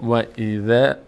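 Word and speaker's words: وَإِذْ: دهان عمودی باز نمیشه دقت بکنید به نحوه تلفظ من که و ایذ و ایذ این دهان بالا نمیره و ایذه عمودی نمیره بالا بلکه افقی باز میشه دهان از بغل باز میشه و ایذ ذا نمیگیم وضا و ایضا نه و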